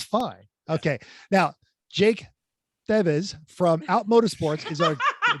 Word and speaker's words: Thiewes: We've already- It's pronounced Thiewes. It's German, at least we're Ah, pretty sure. We were going with Oh. Thiewes.